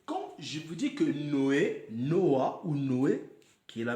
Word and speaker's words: Noah: Ou on peut dire normalement la prononciation meilleure est Noah. N-O-A. Noah, oui, Noah.